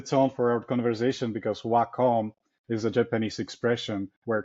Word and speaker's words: Wacom: You you don't don't ever pronounce uh Wacom as WCOM. Oh, okay. And it should set up the tone for our conversation because Waccom is a Japanese expression